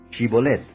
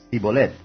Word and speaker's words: Shibolet: Si él respondía, «No», entonces le decían, «Ahora pues di, Shibolet». Y él decía, «Sibolet», porque no podía pronunciar de aquella suerte.